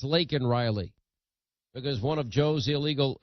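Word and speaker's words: Laken Riley: and it's you know not Lincoln Riley it's lak in Riley because one of Joe's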